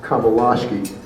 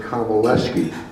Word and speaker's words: Komelasky: And by the way, I know he won't tell you this, but his name is pronounced Komelasky, and so many people say Komelasky.